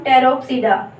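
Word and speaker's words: Pteropsida: Next हम देखते हैं लाइकोप्सीडा, नेक्स्ट है स्फिनोप्सीडा, और यहाँ पे फिर से पी साइलेंट हो जाएगा, इसको बोलेंगे हम टेरोप्सीडा।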